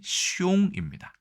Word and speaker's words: 凶: 재밌는 거는 이 흉할 흉자의 중국어 발음이 숑입니다.